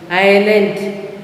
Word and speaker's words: island: Island, S is silent.